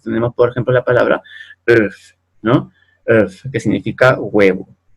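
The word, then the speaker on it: œuf: Entonces tenemos, por ejemplo, la palabra earth, ¿no? Earth, que significa huevo. Earth, ¿bien? En este caso la F final sí se pronuncia, ¿no?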